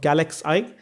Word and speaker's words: GalaxEye: have suyash here who is a part of galaxie is that correct the pronunciation absolutely right thank you suash for getting